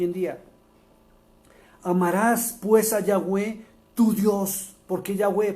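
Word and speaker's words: Yahweh: el nombre correctamente y usted debería pronunciarlo correctamente no como el de las traducciones así lo haya conocido con el de las traducciones entre a la verdad se llama yahwe el dios de Abraham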